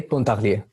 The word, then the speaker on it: Pontarlier: Ouais, Pontarlier. Pontarlier. Perfect. Pontarlier. Or however it's pronounced in English, sorry. No, that's the correct pronunciation, no, French.